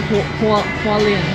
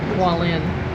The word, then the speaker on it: Hualien: And then the next day, we took a 2 and 1/2 hour train from Taipei to Hua-lien. How you say it? Hua-lien?